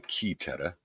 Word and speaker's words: Caetera: 1455 and Inter Caetera, which is probably Caetera, because that's how you pronounce AE, in 1493.